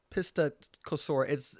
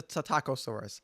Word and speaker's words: Psittacosaurus: I know how to pronounce it now. It's not Pistacosaurus. It's the Psittacosaurus.